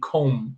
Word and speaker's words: comb: So you don't pronounce the letter B. You say comb. Para no M e tal.